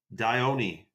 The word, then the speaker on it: Dion: How do you pronounce Dion? Dione. Oh, is it really Dione?